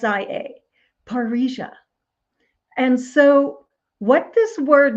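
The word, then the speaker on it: parrhesia: Master there is an ancient Greek word called paria it's spelled p a r r h s i a paria and so what this word means is to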